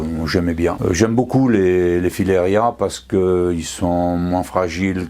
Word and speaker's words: filaria: Ça, c'est un filaria. Le filaria, c'est de la même famille que les oliviers. Filaria ou filaria, les deux prononciations sont bonnes.